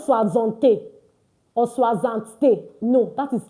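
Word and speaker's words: soixante: And don't forget this a is pronounced as. So don't say swazant or swazant.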